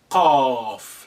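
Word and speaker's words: ق: top of it, and that's a cough, like in the coffee, coming back from the when you say it like a mouth slightly open, cough.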